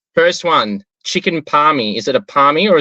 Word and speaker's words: Palmy: these 5 questions, and only 8 fools have said something other than palmy with an I. It just is like, literally, I tell people, for the ones that don't say it, you literally just spell it out and pronounce it, and that's what it is. And there's no other variation of it. No, I get a lot of palmers, but no, definitely palmy. Definitely. That's the way.